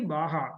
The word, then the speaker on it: BAJA: Then in 2007, SAE BAJA, it is pronounced as BAJA, but it is written as BAJA, BAJA, and Formula SAE came.